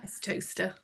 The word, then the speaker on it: Towcester: Towcester. Toaster. Is that really toaster? It's toaster. Yeah.